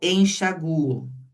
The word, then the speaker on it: enxaguo: Então, por exemplo, aqui, eu enxaguo. É o U que é forte, ó. Eu averiguo e eu delincuo. Então, o forte é esse U, ó. Eu enxaguo, eu averiguo, eu delincuo.